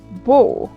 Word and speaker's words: beau: Then we have e, a, u. That to be pronounced like o, like in go. Example: beau.